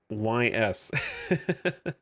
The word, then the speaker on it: Ys: that would make sense you pronounce it Ys it is pronounced Ys oh yeah now we're